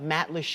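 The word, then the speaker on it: Matlacha: live pictures now this is the town of Matt Lee which we now know how to pronounce thanks to a friend from Lisa's Facebook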